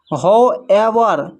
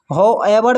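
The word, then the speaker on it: however: हो एवर हो एवर में भी डब्ल्यू साइलेंट है। एच का उच्चारण हो रहा है।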